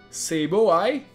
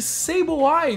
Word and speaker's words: Sableye: Dedenne, Cyndaquil, Popplio, funcionários da Aether, Sableye e outro Sableye.